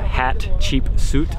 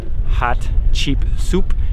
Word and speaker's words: Hatshepsut: women queen hatshepsut lug people call it a hat cheap suit or hot cheap soup it's hard to pronounce but she was a